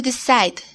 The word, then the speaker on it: decide: Hay una E muda al fin de la palabra. No la pronuncias. Así que el sonido al fin de la palabra es D. Decide.